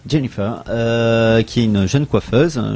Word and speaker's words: Jennifer: Il faut bien prononcer l'accent anglais. Jennifer, qui est une jeune